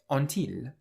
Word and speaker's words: ont-ils: the middle, we get ont-ils. So the t on the end of on is pronounced here because the next word starts with a vowel.